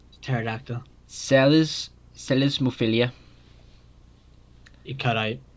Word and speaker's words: pterodactyl: a big long word silent p by the way at the start pterodactyl celes celesmophilia it cut